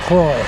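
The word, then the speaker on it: Croix: turn riding West on Croy Road c r o i x so I'm pronouncing it Troy next turn from this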